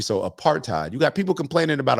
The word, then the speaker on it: apartheid: You don't pronounce the H. I was over here saying aparthide before and Maya corrected me. So apartheid.